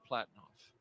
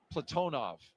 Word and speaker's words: Platonov: and Rosscosmos cosminaut Alleg Platinoff. Platonov. I corrected my pronunciation yesterday and I slipped back into Americanizing.